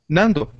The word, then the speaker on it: Nando: you say your name Nando Nando yeah well o at the end is is that sound so it's an easy sound it's not problem sound